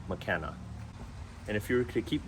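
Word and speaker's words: Makena: McKenna Beach also known as big beach it's pronounced McKenna and if you could keep driving around the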